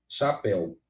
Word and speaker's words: chapéu: eu disse para vocês o c e o h tem som de que letra x não é isso gente né